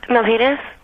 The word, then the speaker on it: Milpitas: Let's just quickly talk to Melanie, because this is, first of all, I can't pronounce the town you're from. Where are you from? Milpitas.